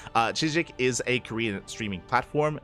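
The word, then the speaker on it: CHZZK: Chik I did did look into how to pronounce it Chik uh Chik is a Korean streaming platform the reason reason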